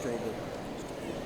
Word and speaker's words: Strobel: Miguel angil Hernandez II my last name is pronounced strob thank thank you Evan